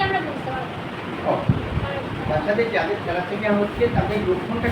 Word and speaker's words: থ্যালাসেমিয়া: বুঝতে পারবো তাদের যাদের থ্যালাসেমিয়া হচ্ছে তাদের লক্ষণটা কি করে তাহলে প্রথম এই রোগটার নাম কি বলছে থ্যালাসেমিয়া থ্যালাসিমিয়া থ্যাসিলামিয়া থ্যালাসিমিয়া এই উচ্চারণটা ঠিক রাখবে তাহলে যাদের এই সমস্যাটা